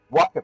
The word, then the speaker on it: waka: But it's also to pray for good luck in farming, waka poetry, and yes, I am pronouncing that correctly.